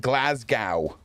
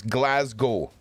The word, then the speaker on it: Glasgow: Americans say it Glasgow. Okay, it's you don't pronounce the W. It's Glasgow.